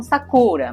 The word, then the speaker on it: Sakura: palavras da língua japonesa a pronúncia correta é Sakura como se tivesse um acento agudo no último a palavra sacura e não sacura que por causa das regras da língua portuguesa né Di oxítona paroxítona proparoxítona acaba sendo pronunciada como Sakura mas o correto é Sakura nesse ano de 2024